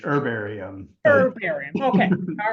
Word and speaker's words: herbarium: pronounce that her herbarium I say with a silent h herbarium herum okay all right